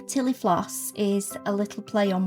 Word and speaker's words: Tillie Floss: The name Tillie Floss is a little play on words. Tillie rhymes with Millie, and Floss is Florence's nickname, so it felt very